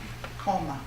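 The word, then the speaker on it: komme: Koma. If I'm pronouncing it right in German, K-O-M-M-E.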